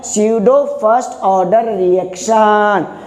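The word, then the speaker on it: pseudo: स्यूडो first order जो होता है झूठा, स्यूडो मतलब ये क्या है, स्यूडो, इसमें पी जो बच्चों साइलेंट रहता है स्यूडो बोलते हैं, स्यूडो first order, P silent स्यूडो first order reaction बोलते हैं।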